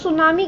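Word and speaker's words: tsunami: सुनामी एक Japanese word है जिसका जो टी है वो साइलेंट है.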